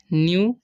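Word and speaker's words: knew: न्यू, sorry न्यू, क्योंकि के यहाँ पर साइलेंट है, ठीक है, तो यहाँ पर न्यू पढ़ेंगे। हाउ, ओ डब्ल्यू है, ओ डब्ल्यू का चलन यहाँ पर आ हो रहा है, ठीक है।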